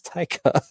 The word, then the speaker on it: Taika: Am I always saying his name wrong? What do you say? Taika? Yeah, it's Taika.